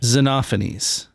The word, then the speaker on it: Xenophanes: Zenophanes. Usually it's a long e and like a shortened O. Zenophanes.